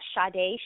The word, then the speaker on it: Sade: thoughts tweet me at shade Facebook me at shade or Instagram I am shade it's spelled sh like the singer s a d and like the